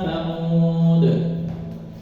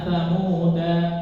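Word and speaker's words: ثمود: Maka ketika dibaca waqaf ala inna tsamud bukan inna tsamuda salah ala inna tsamud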